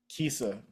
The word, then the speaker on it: KiSa: Your nonprofit, Kissa, did I pronounce it correctly?